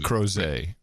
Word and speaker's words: Crozet: Crozet. Rhymes with Jose. It's French, you boneheads.